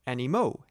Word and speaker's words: animaux: Remember that one animal is an animal, but more than one are animaux, ending in A-U-X. Do not pronounce the X.